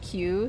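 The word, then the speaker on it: 九: In Japanese 9 is pronounced like Q.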